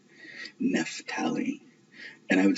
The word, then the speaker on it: Naphtali: up Naphtali and you look at the Catholic pronunciation, it was Naphtali.